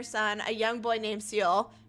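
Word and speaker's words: Ciel: a young boy named seal its seal right yeah that's how I pronounce it in my my head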